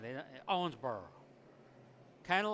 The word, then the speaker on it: Owensboro: I'm from Toledo. We say Owensboro. We like pronounce all the vowels and the consonants. We do it all. But if you're from Owensboro, Kentucky, it might just be Owensboro just kind of dies on the vine.